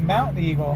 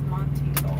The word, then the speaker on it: Monteagle: it was Mount Eagle. No, it's Monteagle.